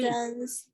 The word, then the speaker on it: danced: When there is no vibration of the vowel chords here, there is no sound. When you pronounce dance, no vibration of the vowel chords. Dance. The final T is pronounced like a T.